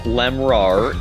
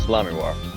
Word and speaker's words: Lamiroir: It is not Lemrar, it is Lamiroir.